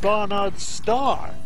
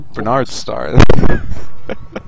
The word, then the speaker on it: Barnard: You have problems pronouncing Barnard Star. Let's be honest about this. I always used to say Bernard Star. Yeah, it's always been Bernard Star to me, always